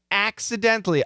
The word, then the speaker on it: accidentally: the way it sounds typically the t is cancelled so accidentally is perfect accidentally but if we cancel the t accidentally accidentally okay gently dently and you